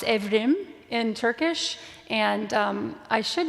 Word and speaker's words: Evrim: brother's name is pronounced evrim in Turkish and I should use that pronunciation since I speak Turkish but I always tend to just say evram almost like Ephraim um but it's yeah